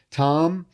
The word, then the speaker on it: Thom: It's Tom, but it's spelled T H O M.